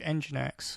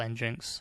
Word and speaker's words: Nginx: to use the image engine X or engins I use them interchangeably it's a bit of a debate how you pronounce it but uh pronounce it how you wish so in the image